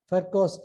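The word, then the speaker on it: Virchow: a thrombus formation so this is called fercost Triad B is pronounced as F and the father of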